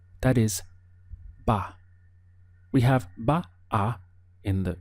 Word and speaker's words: va: That is, ba. We have ba-a in the written language, but very frequently you simply hear this contracted to one syllable, ba. It carries quite a strong B sound for the V.